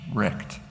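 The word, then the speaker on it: RECD: existing capitalist democracy uh re CD for short pronounced wrecked by accident uh to begin with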